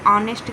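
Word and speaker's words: honest: Is dash ऑनेस्ट officer तो ऑनेस्ट के साथ जो है एच यहां पे साइलेंट है और इसलिए यहां पे एन का प्रयोग होगा। ऑनेस्ट वोवेल से स्टार्ट हो रहा है।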